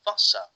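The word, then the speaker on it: Wasser: because water is or if we've seen German Vasa they pronounce the W line V so even if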